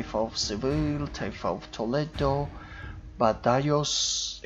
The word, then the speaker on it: Badajoz: Seville, taifa of Toledo, Badajoz. Actually, I was pronouncing that as Badajoz, but then one of my subscribers made the remark that it's Badajoz, a taifa of Granada,